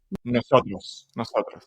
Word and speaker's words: Nosotros: And I listened to the album Nosotros, which also, am I pronouncing correctly? Nosotros? Nosotros.